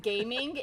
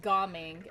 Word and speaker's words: Gaming: And his name is not pronounced gaming, it's Goming, okay?